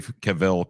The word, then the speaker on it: Cavill: You're saying it wrong. Well, I'm going to continue to say it my way. What did you say wrong? I guess I guess it's Cavl or some Who cares? It's Cavill. His name is Cavil.